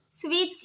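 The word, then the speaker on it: switch: आ रहा है स्विच स्विच इसके अंदर भी टी साइलेंट हो गया नेक्स्ट है राइट राइट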